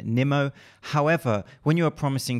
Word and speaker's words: Nimmo: His name is pronounced Aaron Nimmo.